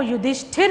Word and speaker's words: युधिष्ठिर: और इसका जो उच्चारण होता है वो युधिष्ठिर होता है, युधिष्ठिर नहीं होता।